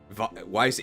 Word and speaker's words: Weiss: know what to say Weiss is said like Vice okay use your Vice grib Dre is pronounced like dry oh it is hydron okay